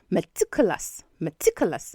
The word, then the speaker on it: meticulous: So that's the schwa sound. So you have m. And then the stress is on the next syllable, which is tick. So you have matik. Now the fourth syllable, culus, also take the schwa sound as the vowels in them. So you have meticulous, okay?